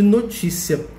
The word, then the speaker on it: notícia: de notícia no cheia notícia tem três sílabas ot é a sílaba mais forte e nesse caso o tipo de notícia está acentuado então notícia é uma palavra paroxítona que tem a penúltima sílaba mais forte e ela leva acento